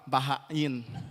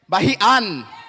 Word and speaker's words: Bahian: So please welcome up my brother, Bahain. No, I said that wrong. Bahian. Bahian, right? Yeah. Bahian. You gotta say it right.